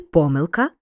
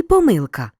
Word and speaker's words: помилка: загадка загадки сторінка сторінки деякі слова мають подвійний наголос наприклад уживаємо і помилка і помилка але в множині тільки помилки у від дієслівних іменниках